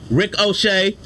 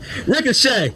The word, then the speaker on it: Ricochet: Rick O'Shea, LWO. Yeah, why you say it like that? It's not 2 words. I know. Rick O'Shea. Ricochet.